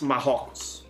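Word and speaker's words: Marrocos: it in English Morocco in Portuguese it's mahogs but I I'm cheering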